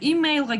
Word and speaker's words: email: Okay, emailга келдик элеке. Emailга болгондо on the first syllable.